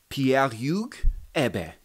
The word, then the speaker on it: Pierre-Hugues Herbert: Pierre-Hugues Herbert, which is the correct pronunciation.